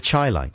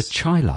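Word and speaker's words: Chi-Lites: The Chylites. The Chylites. Like highlights.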